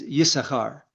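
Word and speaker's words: Yissachar: This month is Yesahar or Issachar I guess you would say in English is a unique character.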